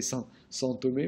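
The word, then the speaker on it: São Tomé: Faites-moi plaisir, prononcez San Tomé au moins, d'accord, et Principe.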